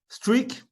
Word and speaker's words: Streakk: Streak, on vous l'a dit, ça s'écrit donc comme ça, S-T-R-E-A-K-K, a été fondé par ce monsieur, par Zuki Chen.